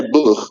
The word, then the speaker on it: Boer: Boer.